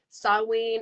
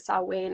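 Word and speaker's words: Samhain: say some paint but saw wayne i believe is a proper pronunciation for it and um i really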